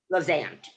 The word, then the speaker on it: Levant: Do you pronounce it Levant or Levant? Levant.